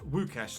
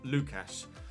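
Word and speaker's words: Łukasz: skorupsky in goal uh the L with a little line through it in Polish is pronounced with a W sound in English so it's it's wukash not Lucas uh sumaro uh Center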